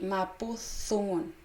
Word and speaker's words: mapudungun: Mapudungun y mapuzungun, ¿ya? D por Z, ¿ya? Va a depender de donde ustedes sean, cómo lo van a pronunciar, ¿ya? Siempre el, la, le hablante de su territorio tiene la razón en la pronunciación, ¿verdad?